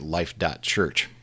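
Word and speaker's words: Life.Church: was founded in 2008 by Bobby growald and life. church and after I read about this we're going to take a look at life. church um let's take a look at life.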